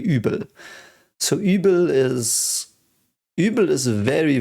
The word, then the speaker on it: Übel: It again is pronounced Übel with a U with a Fleischitz again, Übel.